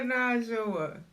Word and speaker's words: Kenajawa: But it's not hard. 4 syllables. Yeah. Kenajawa.